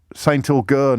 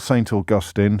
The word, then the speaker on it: Saint Agur: And Saint Augur, not Saint Augustine. Sorry, lads. Saint Augur, it's called.